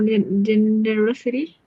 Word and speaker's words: generosity: For generous or generosity stress and second. No, the third one.